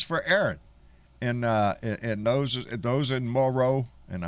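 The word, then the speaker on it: Moreau: Aaron, and those in Morrow, and I learned how to pronounce it correctly today, Morrow, New York.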